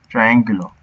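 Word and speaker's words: triángulo: think triangle, would be triangulo or something like that? Yeah, like this. Triangulo. With an accent on the A.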